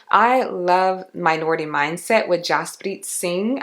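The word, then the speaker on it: Jaspreet Singh: love minority mindset with Jos bit sing I believe is how you pronounce his name he talks a ton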